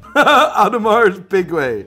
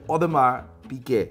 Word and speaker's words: Audemars Piguet: a bit hard for me like audemars piguet adamara's big way audemars piguet correct it is your job this is my